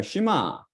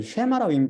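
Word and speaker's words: שְׁמַע: 그러니까 쉬마, 이건 쉐마라고 잘못 발음한 사람 많은데 유대인들은 쉬마라고 했죠.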